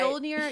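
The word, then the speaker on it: Fjölnir: And Fjolnir, how do you say it? No, Fjolnir, that was right. That sounded right. Fjolnir, he yeah, knows that's right.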